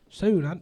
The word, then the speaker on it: Suhn: How do you say your last name? Suhn. Soon.